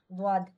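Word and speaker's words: ضاد: দ সেটি হল দ জিহ্বার পাশ ব্যবহার করে উচ্চারণ করতে হয় এই দটা হল আপনার যে জিহ্বার ডান পাশ অথবা বাম পাশকে আপনার দাঁতের সঙ্গে লাগিয়ে দটা উচ্চারণ করবেন যেমন দদ বলেন তো এই দটা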